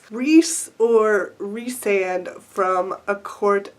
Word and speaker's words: Rhys: reading it, I was mentally fighting with my instinct to pronounce his name Rise.